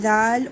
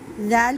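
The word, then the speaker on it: ذال: ज़ैल को प्रोनाउंस करने का जो मेथड है वो सेम है जैसे हमने सा को प्रोनाउंस किया है। अपनी ज़बान की नोक को फ्रंट के दांतों से लगाइए और फिर प्रोनाउंस कीजिए ज़ैल, लेटर ज़ैल।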